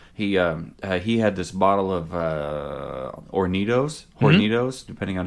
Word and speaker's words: Hornitos: One time, my guitar player in Into Existence, he had this bottle of Hornitos, depending on how you want to pronounce it. But the H is silent in Spanish, so it's just Hornitos.